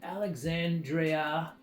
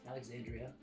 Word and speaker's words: Alexandria: that book last but not least we have alexandrea ocasio-cortez Alexandria I don't know why I didn't say it